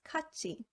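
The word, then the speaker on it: 같이: can be seen in the word katsi meaning together cut is pronounced as kachi in palatalization if the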